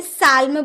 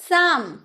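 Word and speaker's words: psalm: और यहां एल भी हम लोग का साइलेंट है। तो क्या हम इसे साल में बोलेंगे? नहीं ना? साम। साम यानी कि भजन।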